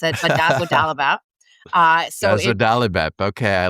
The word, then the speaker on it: dazodalimab: People in the Sjögren's community have been calling this DAS because no one could quite pronounce it, but dazodalimab.